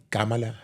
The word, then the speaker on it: Kamala: senadora Y actualmente vicepresidente cala Harris que Así es como se pronuncia su nombre cala Harris y ella ha escogido